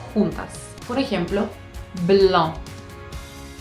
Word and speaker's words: blanc: Por ejemplo, blanc, blanc, de Sauvignon blanc, Sauvignon blanc. Y la C no se pronuncia, es muda, sépanlo.